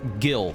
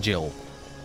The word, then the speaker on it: Gil: just wearing like pajamas the candor pronunciation is Gil not Jill okay then I'll stick